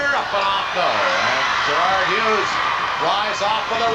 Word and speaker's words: Juriad: Gerard Hughes, again, he spells his name J-U-R-I-A-D. Pronounced Gerard.